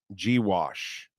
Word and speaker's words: Gauche: I did uh and his name was gauche pronounced gwash I I I I